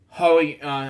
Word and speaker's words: Hoey: Hoey, that's how we pronounce his last name.